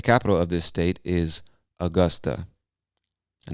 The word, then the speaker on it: Augusta: of this state is Augusta. I know it looks like Augusta or Augusta, but we say Augusta.